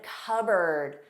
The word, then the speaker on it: cupboard: So I'm sitting on a seat, receipt, and cupboard, cupboard, bird, cupboard. Yes, you put your cup in a cupboard. The cup has a regular P. It's pronounced, but cupboard has a silent P.